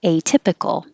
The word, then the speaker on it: atypical: the v valve atypical well i stressed a atypical atypical we don't change this a to an uh percent percent okay